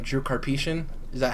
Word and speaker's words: Karpyshyn: The fact that, and I might be butchering his name, Drew Karpyshyn, is that how you pronounce his last name, Jordan? Karpyshyn.